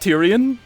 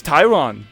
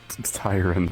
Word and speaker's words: Tyron: Wait, is your name not Tyrion? Your name is Tyron. It's Tyron.